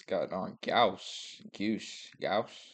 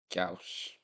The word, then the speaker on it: gauche: Now the next word he said was got on gauche, something like that. With gauche, lacking. How do you pronounce this?